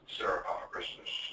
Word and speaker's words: Sarah Christus: It's Sarah Christus. I think I'm pronouncing it right.